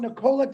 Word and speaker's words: Nikola: You're talking about Nikolai Tesla. No, it's Nikola, actually, if you pronounce it correctly.